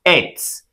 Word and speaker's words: eth: be pronounced as met well an organic compound with two carbons should be pronounced as s do you understand well